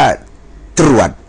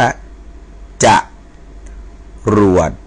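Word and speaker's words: จรวด: นะ ครับ ไม่ ได้ อ่าน ว่า ตรวจ นะ ครับ อ่าน ว่า จะ รวด นะ จะ รวด นะ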